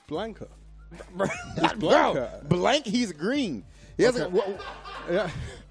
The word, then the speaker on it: Blanka: man I'm saying it correctly did you say blinka I'm saying it correctly who is Blanka what was it Blanca how do you say it Blanca Blanca yeah it's Blanca bro blank he's green he yeah I don't understand